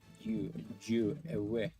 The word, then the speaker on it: ewe: It actually says ewe on the bottom of it. E-W-E. Jew. It had, but its earlier pronunciations had all of the letters pronounced ewe, but we've dropped all that.